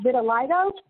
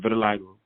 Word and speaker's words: vitiligo: so just to make sure we're clear it's pronounced vitiligo yes ma'am vitiligo good because actually i was saying it some